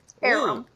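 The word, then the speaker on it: Aurum: Oh, so her name is Aram. How do you spell that? A U R U M. Arum.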